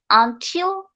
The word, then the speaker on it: until: Just like that, when T is pronounced in the middle option of the word, that time we can stress in T, until, hotel, return.